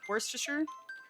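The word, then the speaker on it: Worcester: Worster. Worster. Yeah, we had we talked about it on stream and the UK crowd said it's worster, I believe.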